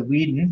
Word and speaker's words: Weeden: It's a Weeden. It has a little plaque on it. Weeden, how do you spell that? W-E-D-E-N. W-E-D-E-N or W-E-E? Weed, as in smoke.